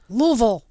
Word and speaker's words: Louisville: Is it Louisville or Louisville? It's Louisville. Louisville. Louisville. I can't even say.